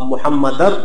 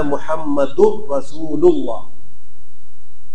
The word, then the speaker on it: محمد رسول اللہ: اللہ محمد رسول اللہ۔ اب محمدر بھی نہیں پڑھنا، رسول اللہ بھی نہیں پڑھنا، یہاں پر پڑھنا ہے محمد رسول اللہ۔ بہت سے مسلمان اس